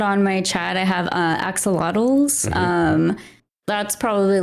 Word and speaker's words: axolotl: one and you said the runner-up is an oxalatus what it what is an oxalates for those who might not know it's a lotto Axolotl I'm sorry yep no that's okay it's a